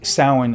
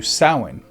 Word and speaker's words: Samhain: In Gaelic, it's closer to Samhain. But when early books on witchcraft hit the shelves, a lot of readers who didn't know Gaelic sounded it out as Samhain. Over time, both pronunciations stuck.